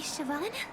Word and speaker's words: Siobhan: Lady Siobhan. Oh, Siobhan. Oh my gosh. I am pronouncing her name very very differently.